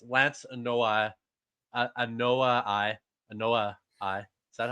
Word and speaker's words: Anoa'i: Anawahi. Anoa'i. Thank you. Don't get mad. Why are you yelling at me? I'm sorry I can't pronounce a fucked up name. Anoa'i. How do I say it? Anawahi.